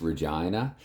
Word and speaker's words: Regina: it was um Springfield and yes it is pronounced Regina and he he talked about they made a